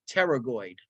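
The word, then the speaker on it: pterygoid: teroid muscle all right I know it looks weird it's pronounced teroid okay this is the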